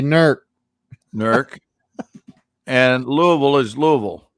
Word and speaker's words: Newark: lancaster lancaster and and newark hears they say nerc and louisville is louisville